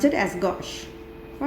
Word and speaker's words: gauche: gorge that is 60 degree angle we can pronounce it as gauche all right so this is the staggered chromation